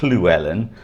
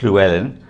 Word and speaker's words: Llewellyn: Now his real name is probably Llewellyn, or Llewellyn, but that the English can't pronounce the barred L, so instead of chl, they pronounce it fl, which is why you